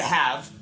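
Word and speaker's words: halve: You still pronounce it have.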